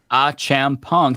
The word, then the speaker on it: Achampong: So Eric Achampong, last name pronounced Achampong.